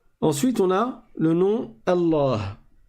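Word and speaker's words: الله: Ensuite, on a le nom Allah. Alors, pour commencer, on a ceif qu'on ne prononce pas parce qu'on fait la liaison et on passe directement au lem.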